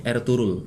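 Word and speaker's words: Ertuğrul: Bacanya nih Ertugrul. Oh gitu. G-nya agak hilang. Ertugrul gitu ya.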